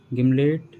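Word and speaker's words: gimlet: Next given, guild, गिल्ट, गिमलेट, गर्डल, गर्थ।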